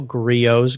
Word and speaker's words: Griot's: was in the mail griot's garage not a lot of people I heard you call it griots the T is silent it's a French word but I got the